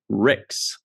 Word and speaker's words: Rixx: with dicks um so what rhymes with dicks is Ricks and she says holder